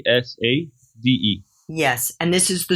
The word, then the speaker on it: ESADE: Am I pronouncing it correctly, in Barcelona? ESADE, ESADE.